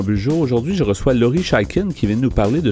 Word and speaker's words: Chaiken: J'ai le plaisir d'accueillir mon invité, Laurie Chaikin. C'est bien ça comme ça qu'on le prononce, oui, c'est ça?